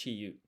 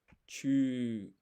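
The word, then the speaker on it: ちゅ: is a yu, but it's not pronounced chi yu because this yu is half size. This forms something called a hiragana yun combination. So this is chu, a blended syllable.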